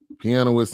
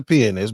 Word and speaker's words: pianist: mcnight is a sick pianoist and songwriter yeah we pronounce a Pianist but okay go ahead okay we